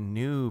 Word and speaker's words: GNU: So in the 80s, he started the GNU project, or GNU as he pronounces it, and it's GNU, and the acronym